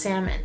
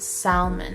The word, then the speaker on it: salmon: that salmon is pronounced salmon and not salmon or something like that like where did the l go y'all just gonna ignore the fact that there's another l like why is the l silent like english language please